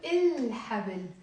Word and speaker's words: الحبل: It sounds even wrong to say حبل, right? So منقول الحبل.